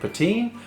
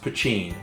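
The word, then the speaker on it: Poitín: when you see it spelled, it looks like Poteen, but it's pronounced Poteen.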